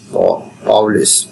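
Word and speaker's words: Pauli: এরপরে পলিস বর্জন নীতি বা পলিস স্কুলেশন প্রিন্সিপালস পাউলিস পাউলিস উচ্চারণটা যেভাবে জেনিতে পারে পাউলের বর্জননীতি পাউলি পাউলিস এক্সপলেশন প্রিন্সিপাল আমরা কষেত্রে পলির বর্জনীতি বলি আসলে পলি হবে না পাওলি হবে বা পলিস হবে বুঝতে পারলেই হবে এক্ষেত্রে একই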